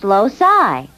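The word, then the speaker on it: loci: no not locuses more than one Locus is pronounced loai I think we should spend a little time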